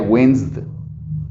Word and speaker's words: winced: D nada más, porque la E jamás va a pronunciarse, se fijan, es wins, entonces sería winced. O si lo hago un poquito más fuerte, será como winced.